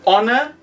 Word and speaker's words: honor: you can ask him in some words we ignore the pronunciation of some letters for example in honor and in our we ignore the h we call those silent letters uh showa can you